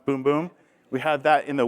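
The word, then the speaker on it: Bum Bum: so you have the boom boom cream that's how you say it it's not bum buom it's boom boom we have that in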